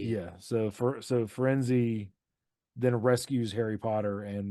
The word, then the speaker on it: Firenze: Firenze. That's Yeah. that's what I said. Firenze. Yeah, that makes sense. It's like Fire in Z. Yeah. So Firenze then rescues Harry Potter and Malfoy and drags them out of the forest.